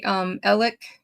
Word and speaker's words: Alex: So, but in South Carolina, for some reason, the locals say Ellick and Murdoch.